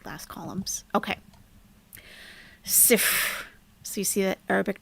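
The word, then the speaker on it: صفر: And we pronounce 0 in Arabic by saying sif.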